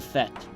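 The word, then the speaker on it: Fête: Is it French? It is French. It is Fete. I think it is. Isn't that the party? Yes, like the party. Yeah, it's Fete. The Fete.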